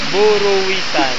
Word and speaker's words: Buruwisan: FS Yeah you're right bwasan buruan buran bur pronounce it correctly buran buruwisan question do you want me to spell it